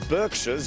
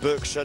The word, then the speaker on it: Berkshire: day weird the Berkshires yes that's how the names pronounced Berkshire not Berkshire our stereotypical a slice